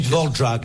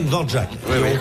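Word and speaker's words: Dvořák: Ça se dit Dvorak. Enfin, si ça vous se voulez prononce l'appeler Dvorak.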